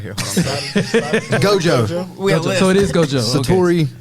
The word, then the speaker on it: Gojo: Gojo.